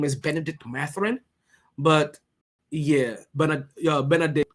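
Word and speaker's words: Mathurin: number standpoint you guys are gonna like Benedict mataron and I like I'm pronounced like The Islander in me pronounces that name that's only I'm gonna remember because it's supposed to be matherine right if you want me to say it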